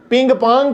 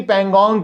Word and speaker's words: Pangong: वो उसको उल्टा प्रोनाउंस कर रही थी, पिंग पोंग कह रही थी पेंगोंग की जगह।